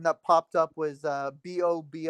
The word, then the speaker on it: bobo: popped up was uh b o bo o and okay I I like put on pronunciation how to say it and I guess it's more like bbo but I say like Bobo and it's it means